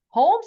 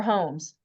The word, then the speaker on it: Holmes: Nicole Holmes. Nicole. Holmes, like me, or Holmes?